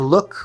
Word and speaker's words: look: l l The oo in this word is actually the sound that I call the high schwa, the sound uh like in book.